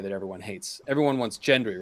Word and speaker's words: Gendry: Everyone wants Gendry, right? I like Gendry. I prefer Gendry. Okay, I'll say Hard Gendry. G. Hard G. Hard G, yeah.